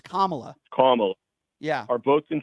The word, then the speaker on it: Kamala: Now, Biden and Kamala are both Kamala. in favor. Why don't you pronounce her name right? It's Kamala.